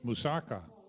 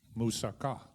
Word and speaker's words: moussaka: thought that we should pronounce it moussaka but it's actually moussaka wedding they used to